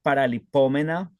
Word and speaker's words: paralipómena: Debe ser paralipómena. Y así es, porque lleva tilde en la U, para Exacto.